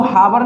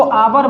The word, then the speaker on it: hour: हैं, जैसे आपने देखा HOUR, इसको हावर नहीं बोलते, हावर बोलोगे तो हवाई बोल दो, इससे बढ़िया तो इसको आवर बोलते हैं। यहाँ पर जो है ये H साइलेंट होती है।